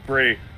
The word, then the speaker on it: Brie: is Nikki Bella oh wait it's Bri Bella sorry it's Brie so yeah no he